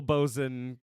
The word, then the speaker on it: boatswain: Let's be clear. Forecastle, bosun, coxswain.